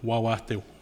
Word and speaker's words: Wawatay: And for us in Cree, we would pronounce it Wawatay.